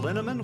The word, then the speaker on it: Linneman: Alicia Lemus, Rebecca Hughes, Val Linneman, which rhymes with cinnamon, Nick Harper, Stephanie Holmes,